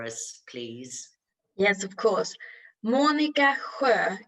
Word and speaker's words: Monica: please yes of course monica if you say it in swedish you have to rehearse that i think i'm laughing